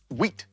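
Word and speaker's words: huit: Wheat. Wheat. This one starts with a sneaky silent H, doesn't it?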